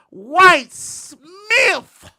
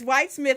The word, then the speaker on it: White Smith: how you doing sister Miss Whit Smith is doing fantastic Miss White did I just say it wrong you did what did I say Smith it's white Smith I don't know people